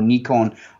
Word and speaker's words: Nikon: nikon school it's a nikon school in sort of uh that's the way we pronounce it in the uk nikon or nikon in other parts of